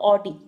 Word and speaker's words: Oddi: Of, sorry, sphincter of ऑडी। ऑडी से याद, ओडी, ऑडी गाड़ी से याद रखेंगे, हालांकि इसकी स्पेलिंग अलग होती है, ODDI, स्पिंक्टर ऑफ, स्पिंक्चर